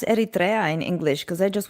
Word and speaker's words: Eritrea: was to go live foreign how do you pronounce Eritrea in English because I just went Eritrea but maybe it's this might might be the